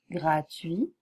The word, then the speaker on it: gratuit: prononce pas non plus on dit gratuit transport nuit il s'agit impôt interdit la plupart vous voyez que le T ne se prononce jamais tard grand un placard